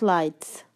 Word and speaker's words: lights: Number 7, traffic lights. The GH is silent here. The GH sound is silent. It does not make a sound.